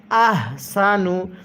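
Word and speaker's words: أَحْسَنُ: এখানে এই হাগুলো উচ্চারণ করার সময় মুখ দিয়ে হালকা আওয়াজ করি। আহসানু এরকমভাবে পড়লে পড়াটা সহিহ শুদ্ধ হবে না।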